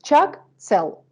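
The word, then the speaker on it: ཕྱག་འཚལ: It has two syllables, chak, tsel. And if we were to give an etymological explanation, chak means hands, we can say, and tsel means to bestow, to give.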